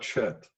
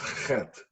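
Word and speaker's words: חטא: It's not chet, but chet. It's a guttural sound, hard for English speakers to pronounce unless they are familiar with the German Achtung or the Yiddish chutzpah.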